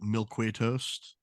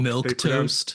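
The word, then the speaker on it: milquetoast: where someone said that they used to pronounce it mil qu toast oh my that's a good one on what mil milk toast mil toast milque toast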